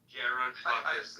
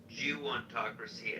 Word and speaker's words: gerontocracy: He certainly pronounced Jew-ontocracy as if it were government by Jews, but in fact I do believe he tried to say gerontocracy.